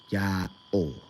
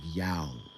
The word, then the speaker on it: YAOH: So people have said YAOH, right? With an audible stop between the two syllables, YAOH. That's what people have suggested to be the case. And then also the the history kind of suggests that in a spoken form, it sounded like yow.